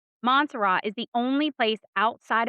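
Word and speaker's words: Montserrat: Monserat. Monzerat is the only place outside of Ireland where St.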